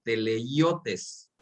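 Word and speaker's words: τελειωτής: Esa palabra consumador, igual en el vocablo griego, se pronuncia como teleiotes.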